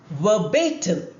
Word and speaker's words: verbatim: The Latin expression verbatim. Look at the spelling and pronunciation. Verbatim, stress on bay, the second syllable.